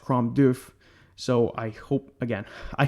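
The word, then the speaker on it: Crom Dubh: o m du U BH and it is pronounced crom doof so I hope again I hope I am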